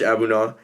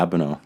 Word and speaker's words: Abunaw: friend of mine George abuna is that how I pronounced your last name yeah abuna ni and simple yeah George abuna how are